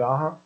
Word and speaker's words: Aja: And then we had David Aja. Now, how he likes that pronounced, it's AJA, so Aja, whatever, fantastic artist.